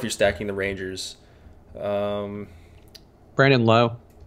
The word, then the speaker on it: Lowe: Brandon Lowe. Brandon Lau, yeah, I think it's Lau. Adam told me. Is it? Why? Fuck, it's spelled like Lowe.